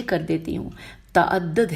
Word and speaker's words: تعدد: ہجے کر دیتی ہوں، تعدد ہے، یہ تعداد نہیں ہے، میں نے غلط پڑھ دیا، تے عین دال دال اور پہلے دال کے اوپر تشدید ہے، تو تعدد ہو گیا، اور ازواج الف ز